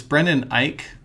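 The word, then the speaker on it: Brendan Eich: here netscape navigator launches and we have this brendan ike i think that's how you say it who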